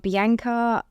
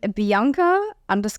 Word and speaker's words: Bianca: probably my Instagram um bianka sorry I have to say the American way no one understands the Australian pronunciation I've had to relearn my name here um Bianca Richards yeah awesome it's